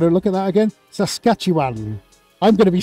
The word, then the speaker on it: Saskatchewan: Saskatchewan, have I said it right?